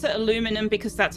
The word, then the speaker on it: aluminum: flavor uh no because the spelling actually changes the pronunciation with aluminum versus aluminium whereas taking the U